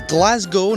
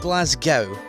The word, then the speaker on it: Glasgow: It's Glasgow, not Glasgow.